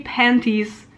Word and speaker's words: panties: Mostly I make the silent T like in the word interaction or something. It depends. I am sometimes too lazy, but I will never say panties like pennies, because it sounds way